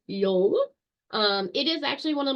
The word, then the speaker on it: Yule: So the Norse Yule, which, like I said before, pronounced Yule.